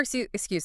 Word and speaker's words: excuse: For excuse, the spelling is a bit tricky. That X sound is actually two linked sounds. KS. Excuse.